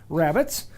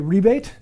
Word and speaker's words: rebate: use british english uh this will be called a rebate um but uh that is just a weird pronunciation of the word rabbit they say so i call them rabbits but if i'd use the word rebate it means the exact same thing it's just a different pronunciation difference donegal high